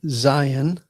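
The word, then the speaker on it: ז: And then we have Zion, and this is like the English letter Z as in Zion or zebra.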